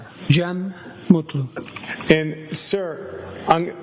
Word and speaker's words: Cem: Jeem Mutlu.